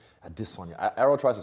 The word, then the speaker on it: Adesanya: And then second part is I've noticed that when you say your last name, Adesanya.